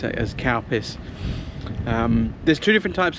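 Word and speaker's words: Calpis: l p i s CPUs but it's people pronounce it as CPUs um there's two different types though there's CPUs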